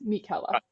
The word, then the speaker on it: Michela: yeah uh my name's Mikela people call me Mick I've been trying to teach you guys how to say my name correctly so it is Mikela just want to remind